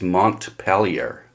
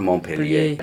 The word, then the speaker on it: Montpelier: It's like in Vermont, the capital of Vermont is Montpelier, not Montpellier.